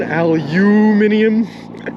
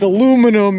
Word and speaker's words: aluminum: why not you say it wrong john aluminium it's aluminum miz i think you say